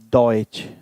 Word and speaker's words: Deutsch: When there is T before SCH. Always Ch sound. Example, Deutsch, Deutschland.